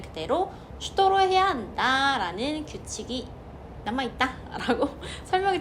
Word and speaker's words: что: 표준어라는 게 없지만 어쨌든 가장 스탠다드한 억양은 슈도가 맞고요. 때에 따라서 초, 슈다, 슈도 이런 식으로도 사용이 됩니다. 하지만 초 뭐 이런 거는 좀 뭐랄까 시장에서 사용하는 그런 좀 강한 언어 강한 발음이니까 우리는 그렇게 쓰지 말고 표준어로 슈도라고 발음해 주시면 돼요.